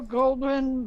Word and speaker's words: Goldwyn: stands for what Metro Goldwyn mayor that's correct I may have gotten the G 1 mispronunciated no you got it gold one's right there